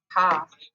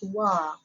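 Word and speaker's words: は: the hiragana is actually the reading is ha but only for the particle when it comes to the particle is actually pronounced as wah so the reason why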